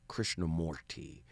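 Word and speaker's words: Krishnamurti: You already know how I feel about Krishna Merti or Krishna Morty as they pronounce it correctly.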